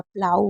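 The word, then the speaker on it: plough: एक तो आप इसे औ पढ़ सकते हैं और दूसरा आप इसे ओ पढ़ सकते हैं। जी एच इसमें साइलेंट रहता है। लेकिन आपको याद रखना है कि ओ जी एच को या तो आऊ या ओ पढ़ना है। जैसे बाऊ हो गया, प्लाऊ हो गया, दो हो गया या डो हो गया।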